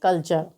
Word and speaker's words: culture: तो आप यहाँ पर देख सकते हैं कि टी के बाद में URE आया है। तो जब टी के बाद में URE आए तो वहाँ पर टी का उच्चारण च होता है। तो CULTURE को हम क्या पढ़ेंगे? कल्चर।